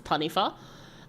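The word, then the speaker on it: taniwha: um it says it's it's written as t a n i w ha but it's tanif um and it's like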